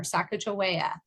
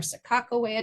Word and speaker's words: Sacagawea: Depending on where you, were kind of raised, it might be Jamestown or Sacagawea or Sakakawea, depending on how you say it.